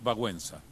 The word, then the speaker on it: Wałęsa: Yo sé que se pronuncia de otra manera, pero... Lech Wałęsa.